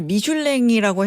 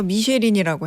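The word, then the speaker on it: Michelin: 그러니까 정확하게 프랑스어로는 미슐랭이 맞고요. 네. 이게 왜 미쉐린이라 불리냐? 이게 바로 미국 진출에서 시작됐습니다. 이게 미국 참 발음이군요. 호카랑 닮아 있는데 호카도 미국 진출을 위해서 회사를 매각하지 않았습니까? 이들 역시 미국을 가야지 자동차의 본고장에서 더 많이 팔 수 있다라고 생각해서 미국 진출했고요. 미국식 발음, 미국에서는 이거를 미쉐린이라고 부른 겁니다.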